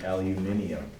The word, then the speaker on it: aluminium: applied chemistry says that it's actually supposed to be aluminium which sounds awesome with an English accent but terrible out of